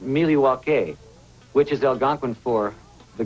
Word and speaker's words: Milwaukee: indian name yes pete it is actually it's pronounced miliwake which is algonquin for the good land the